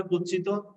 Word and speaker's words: কুৎসিত: হবে ত দিয়ে কুৎসিত আসলে কুৎসিত উচ্চারণটি হবে কুচ্ছিত তো আমরা দেখো কুচ্ছিত প্রথমে